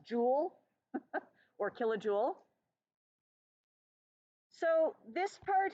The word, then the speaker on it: joule: is the joule or the pillow Jewel is pronounced Jewel or kilojoule so this part here this is